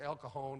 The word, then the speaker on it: El Cajon: She said, out here we pronounce that J like an H. It's El Cajon and San Jose.